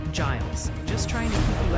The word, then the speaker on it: Giles: Multiple viewers are saying Giles County, Tennessee is pronounced Giles.